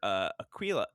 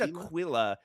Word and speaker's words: Aquila: He and Senator Aquila. I always said Aquila, but I know that's just like the very, very American pronunciation.